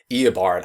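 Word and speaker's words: Eobard: iard thawn oh and thank you anyway the flash writers for telling me how to actually finally pronounce eard I just been saying e for decades um so we knew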